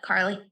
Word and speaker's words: KRLY: Krill? Oh, Carly.